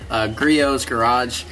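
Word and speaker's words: Griot's Garage: I asked you tell just use the griot garage right here crios whatever the heck you pronounce it I got corrected krios garage same pad you know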